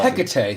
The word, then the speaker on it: Hecate: It's pronounced Hecate. Sorry, guys. I'm usually good at pronunciation, but Hecate. I don't know where I've heard Hecate, but it's Hecate.